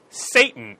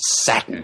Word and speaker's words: Satten: Herbie Satan. Satten. It's pronounced Satin.